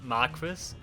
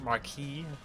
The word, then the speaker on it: Marquis: They always pronounce it Marquis, but it's actually pronounced Marquee. Um, but I think Marquis sounds better.